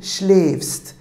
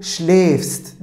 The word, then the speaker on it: schläfst: Du schläfst. Demek ki A umlaut almış. Yani A'nın üzerindeki, değil mi, bu noktalara A umlaut şeklinde E şeklinde telaffuz ediliyordu. Du schläfst, değil mi?